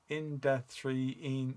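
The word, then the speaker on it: Indanthrone: Number 247 is pronounced Indathrine.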